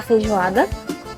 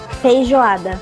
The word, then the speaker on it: Feijoada: Fran nos está haciendo la recomendación Agora tem aqui, ó, la feijoada, que esos son que é o frijoles. feijão preto. ¿Cómo se Feijão. pronuncia? Feijoada.